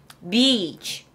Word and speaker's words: beach: 거 제일 좋아하는데 be 자 이걸 작게 발음하시면 욕이 돼요 비에서 소리를 밀어 주셔야 돼요 자 밀어서 갑니다 be be B 이러면 안 돼요 욕 돼요 beach 자는 해변을 얘기합니다 해변을